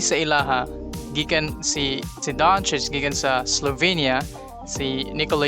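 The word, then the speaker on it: Dončić: nga ilabasa ni kay Doncic. Kaya naanad nga ang C kung masundan siya bawal nga I ug E kaya ang pronounce na niya kay S. So usay basahan nila og Doncic.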